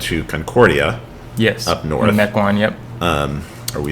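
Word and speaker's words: Mequon: Mecoin. Yep. Um or we say Mikuan. Mikuan. Is that the pronunciation?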